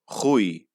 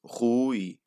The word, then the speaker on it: Rui: uh diphthongs so it's hui and our u as well that one for the english speakers you've been pronouncing pretty well that it's the double o the oo like in liverpool it's hui you go from u